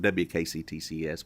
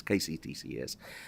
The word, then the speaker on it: KCTCS: I want to call it WKCTCS, but it's KCTCS.